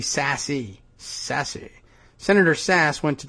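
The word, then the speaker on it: Sasse: Senator Sass, and I'm still not clear on that guy's pronunciation. Sass? It should be Sassy.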